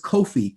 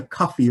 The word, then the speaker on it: Kofi: boy born on friday your day name is kofi kofi or phonetically or anglicized to coffee or cuff possibly one of the